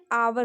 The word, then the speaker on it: hour: देखिए यहाँ भी ओ से पहले एच है तो एच को हम साइलेंट कर दिए हैं, आवर होता है इसका सही प्रोनाउंसिएशन, HOUR, आवर हुआ।